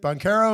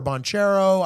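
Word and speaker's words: Banchero: It's Boncaro or Bonchero. I'm not 100% sure. I think you said it right the first time.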